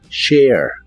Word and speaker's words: share: share que significa compartir lleva un sonido de e antes de la a pero la letra e del final no se pronuncia share share y usaremos el